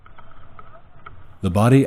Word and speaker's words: Bodie: had thought the name of the lighthouse was pronounced Bodie Lighthouse. However, after doing some research for this video, I discovered it is actually pronounced Bodie Lighthouse.